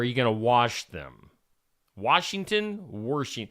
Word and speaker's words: Washington: Washington. I'm going with Washington being mispronounced that drives me crazy. Warsh. There's no R in Washington.